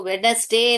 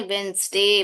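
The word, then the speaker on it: Wednesday: वेंसडे, इसको वेडनेसडे नहीं बोलते, वेंसडे बोलते हैं, वेंसडे। डी साइलेंट है यहाँ पर।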